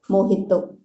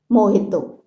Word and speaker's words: mojito: Okay, that is a kind of mojito. The spelling is J, not H, but we pronounce it H, mojito.